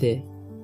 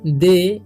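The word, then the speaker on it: they: दे, इसे थे नहीं पढ़ना है, क्या पढ़ना है? दे पढ़ना है। ठीक है, जब भी ई वाई लास्ट में रहता है तो उसका उच्चारण ए हो जाता है, देर तक होता है, तो दे।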